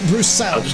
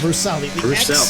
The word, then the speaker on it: Bruxelles: I don't know how to pronounce that turn name. Bruxelles. Bruxelles.